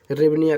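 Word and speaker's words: гривня: HY, नहीं HRY, ऐसे हिरवनिया हो जाता है। इंग्लिश में हिरवनिया, लेकिन एच साइलेंट हो जाता है, इसलिए हम इसे रेवनिया कह देते हैं।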